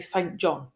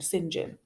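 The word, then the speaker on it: St John: me and almost all of you would say st. John awesome John which does make perfect sense that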